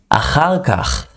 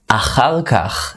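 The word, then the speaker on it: אחר כך: Achar kach. Another hard word to pronounce with all the ch sound. It's like a mucus sound. Achar kach is later or afterwards.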